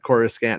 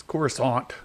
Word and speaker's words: Coruscant: he said of course everybody said chorus scan and all of a sudden George Lucas decided to go with the fancy or French pronunciation of it and they're like are you an angel it's corus Aunt an angel are the